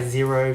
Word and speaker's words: Xero: Those are my Zero shoe Huarache sandals. Zero is spelled Xero, and yeah, I like them.